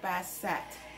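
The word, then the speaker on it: Bastet: or devouring lady later priests called her bassette to indicate that the t in her name should be pronounced bassette shares one of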